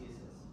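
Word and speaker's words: IS☉IS: It looks like ISIS, but it's pronounced ESIS.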